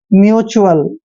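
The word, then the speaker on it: mutual: Next है एम यू टी यू ए एल। देखिए एम यू का उच्चारण हम म्यू करते हैं, हमेशा म्यू। और टी यू ए एल को हम क्या पढ़ रहे हैं? च्यूअल, ऐसे म्यूचुअल।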